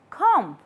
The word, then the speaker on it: comb: B, incline, comb, doubt, and subtle.